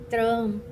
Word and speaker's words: Trump: o que o Trump, eu não sei por que na pronúncia desse nome eu sempre falo eh eh do jeito que que se escreve, mas não é, é Trump, certo?